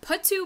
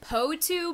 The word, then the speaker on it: potoo: is a little different i've heard put two bird poetry bird or potu bird so however you want to say it i'm sure it's